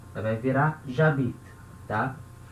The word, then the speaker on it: j'habite: Então a palavra que termina com vogal, ela vai perder a vogal. Então certo eu escrever e falar j'habite. J'habite. Então a gente lê como uma coisa só, uma palavra só.